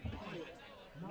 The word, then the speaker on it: Pyatt: Pyatt, is that how you say it? Yep. Number 14, Mr. Evan Pyatt, knocked out of bounds by number 3, Davion Lavelle.